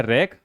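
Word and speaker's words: wreck: फिर है रैक। रैक means क्या होता है? तबाही। देखिए, डब्ल्यू से स्टार्ट हो रहा है, बाद में क्या आ रहा है इसके? आर।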